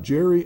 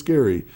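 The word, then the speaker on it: Gerry: If you go to a town called Ge R Y, it's not Jerry, it's Gary.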